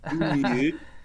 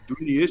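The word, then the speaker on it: Doisneau: Então, Robert Dunier é 2 Neal, se escreve, tá? 2 número 2, para você que fala em português, mas se fala Dunier. Dunier, você tem que fazer biquinho. E hoje estamos fechando mais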